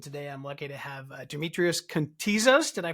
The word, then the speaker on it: Demetrios Kontizas: It's with the Grow IT Podcast, and today I'm lucky to have Demetrios Kontizas. Did I pronounce it correctly?